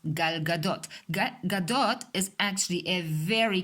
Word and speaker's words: Gal Gadot: For example, many Americans say Gal Gadot. She is not Gal Gadot, she is Gal Gadot.